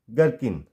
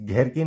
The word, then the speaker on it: gherkin: यहाँ पे GHERKIN गर्किन, इस घेरकिन नहीं गेरकिन।